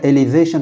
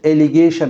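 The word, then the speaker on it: allegation: এটার আবার যদি আমি নাউন করি তখন এটা এলিজেশন হবে না, এটা যেটা গ হয়ে যাবে, উচ্চারণটা একটু চেঞ্জ হবে, এলিগেশন হবে, অভিযোগ।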